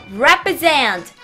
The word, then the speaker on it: represent: 제가 리 아니고 레로 발음하라고 했어요. 리가 아니라 레. 생각나세요? represent.